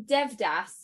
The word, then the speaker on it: Devdas: It's from Devdas. Is that how you pronounce it? Yes, Devdas.